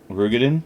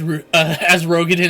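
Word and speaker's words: Roegadyn: Rugadin. Rugadin? Rugadin. I know it's weird. It's spelled Ro, but it's pronounced Ru. Okay. Were seen fleeing the craft. What did you say? Yeah, sometimes I'll pronounce it as Rogadin as well.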